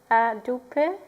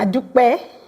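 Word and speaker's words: A dúpẹ́: I think now it's time to say adupe, or how do I say it correctly? Adupe. Adupe. Yes.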